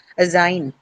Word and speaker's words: assign: So again, since meant does not bring about any change, it's going to be retained on the second syllable. Assign.